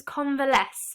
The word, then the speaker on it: convalesce: next key word is convalesce so three syllable world word conver so this in the